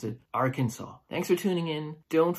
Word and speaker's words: Arkansas: the area the cancel Arkansas is originally the French spelling and the S is silent why is it French